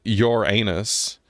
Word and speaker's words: Uranus: When I was growing up, everyone pronounced it your anus, but now, not so common.